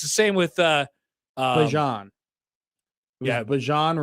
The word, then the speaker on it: Bijan: Yeah, Bijan Robinson, not Bijan Robinson.